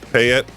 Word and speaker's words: Payette: And then Payette. Is that how you say it? Payette?